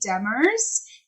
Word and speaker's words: Demers: before and I am here now with Demers this is my pronouncing name right yes okay and they are